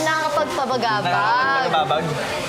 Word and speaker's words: nakakapagpabagabag: "Nakakapagpabagabag."